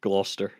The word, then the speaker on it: Gloucester: it's literally just Gloucester.